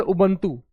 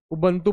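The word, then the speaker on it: Ubuntu: जैसे उबंतू ठीक है? उबंतू बोल लो, युबू बोल लो। ठीक है? जो आप इसको प्रोनाउंस कर सकते हैं।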